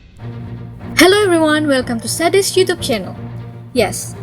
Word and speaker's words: Shadé: everyone, welcome to Sade's YouTube channel. Yes, it's actually pronounced Sade, not She.